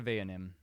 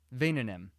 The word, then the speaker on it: Vayanim: See ya, Vayanim. Vainanim. Yeah. I mispronounced it the second time.